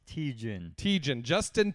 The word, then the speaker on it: Tietjen: I always it up it's teachin teach and Justin give around applause